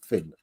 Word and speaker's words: Fionn: I started saying Fionn until I looked it up online. Google is the source of all knowledge in the world. And I figured out, yeah, that's how you say it, Finn.